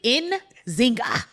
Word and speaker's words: Nzinga: Don't overthink it. It's literally in Zingga.